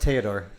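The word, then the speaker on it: Théodore: It's pronounced Theodore. En français.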